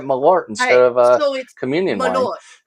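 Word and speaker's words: Malört: This is Kirk from This is Mr. Mayot from Westside. Malort. Say it correctly.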